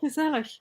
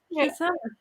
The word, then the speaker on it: gezellig: I have the soft G as well. I'm from the south, so we don't use the hard G. Lol. Yeah, gezellig. Like it's gezellig.